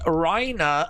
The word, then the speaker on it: Reina: Daze, I went to the Maria Reina, pronounced Reina Center in downtown Hobart, Indiana, to see ARW Pro this Saturday.